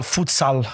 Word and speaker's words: futsal: No, it's not sol, it's sal, futsal.